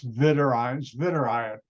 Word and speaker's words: Zwitterion: Zwitterion, it's Zwitterion, which is in German.